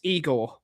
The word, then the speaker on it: Igor: Uh, is it pronounced Eigor or Iger? It's Eigor because he's Croatian.